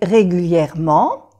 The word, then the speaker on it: régulièrement: Vous allez aux toilettes régulièrement, pero no se pronuncia la E. En francés se suprime muchas veces la E.